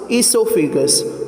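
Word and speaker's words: oesophagus: Here you can see in the spelling there is O but O is here silent. Okay. How it is pronounced esophagus.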